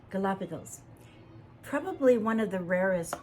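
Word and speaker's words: Galápagos: The Galapagos. Galapagos.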